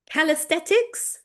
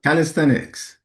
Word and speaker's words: calisthenics: Now, I can never pronounce this word. So, Leon, this is this is your territory right now. Calesthetics. You know, calisthenics.